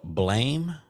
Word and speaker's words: Blame!: you know if you if you look at the how it's spelled it's spelled blame b-l-a-m-e with a exclamation point at the end but I was uh looking at the trailer one day and it was pronounced blam so I don't know